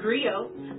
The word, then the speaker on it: griot: share that history with you agree oh it's pronounced griot or English agree on it's the West African